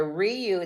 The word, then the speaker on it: Riu: laid-back good time at that Resort so the Ryu that's how you say it yeah Ryu the